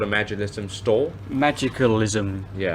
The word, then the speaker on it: Magicalism: Magicalism. Yeah. Magicism.